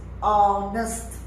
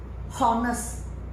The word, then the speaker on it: honest: you see this word the pronunciation is honest honest not horest not horest there's no h sound pronunciation is very important